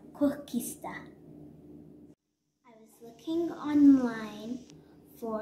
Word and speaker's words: koeksister: treat from south africa i had to learn how to pronounce it it is called kokista i was looking online